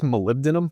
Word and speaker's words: molybdenum: It's molybdenum, but people just call it moly.